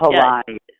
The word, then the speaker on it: Palahniuk: previous interview, Greg Levine, referenced Chuck, is it Palahniuk? I can never remember how to pronounce his last name. But Palahniuk.